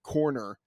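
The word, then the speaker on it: Koerner: Action, and of course for you and Sean Corner. That is how his last name is pronounced.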